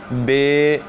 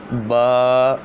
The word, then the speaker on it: با: اور قرات کے مطابق عربی لہجہ میں ادا کریں، اردو تلفظ سے پرہیز کریں، یعنی بے، تے، سے، ہے، خے، توئیں، زوئیں وغیرہ ہرگز نہ پڑھیں، بلکہ با، تا، ثا، حا، خا، تو، ظا وغیرہ پڑھیں۔ ان 29 حروف میں 7